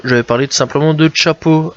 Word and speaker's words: Chapo: Découverte du jour, j'avais parlé tout simplement de Chapo. Alors ça s'écrit CHXPO.